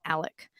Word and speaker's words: Alex: one as well and it's spelled a-l-e-x which i'm gonna call him alex a lot of people do call him alec so there's some some different pronunciations of their names there so there's